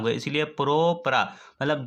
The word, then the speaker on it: propranolol: इसमें देखो, इसको प्रोनाउंस करो प्रोप्रा। 3 कार्बन को हम लोगों को पता है कि 3 कार्बन को प्रोपेन बोलते हैं, 3 कार्बन को क्या बोलते हैं, प्रोपेन।